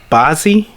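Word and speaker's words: Bazzi: on this list I bossy that's how you pronounce it ba zzi yeah and little baby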